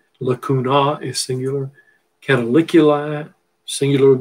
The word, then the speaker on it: lacunae: canal you see lacuni ae is pronounced e that's latin lacunae is singular cataliculi singular